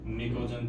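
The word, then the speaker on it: pnictogen: अब आप देखेंगे कि स्पेलिंग में मैंने पी लिख रखा है और पढ़ रहा हूं निकोजन तो ध्यान रखना प साइलेंट रहता है और इसका टी साइलेंट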